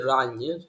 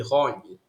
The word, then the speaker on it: Ran: I said Rany, it should actually be Rony.